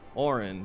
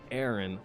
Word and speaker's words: Auron: not Aaron it's auron Oren yeah you and I get it wrong Oren there we go not Aaron Oren there we go how